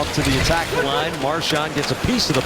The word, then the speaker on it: Marchand: Chara has Marchand straight ahead. Marchand, excuse me. That is how he wants it pronounced.